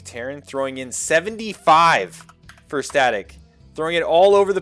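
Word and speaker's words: Stat!c: Let's go Static with the exclamation point for the I. Static with the exclamation point for the I, which is how his name is pronounced.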